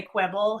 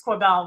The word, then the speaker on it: Quibell: yeah definitely says when people say quibble he says it's quabelle but I don't quibble about it quebel is so much